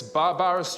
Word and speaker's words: barbarous: This barbarous trade is repugnant to the spirit of Christianity. Barbarous, sir, is the correct pronunciation.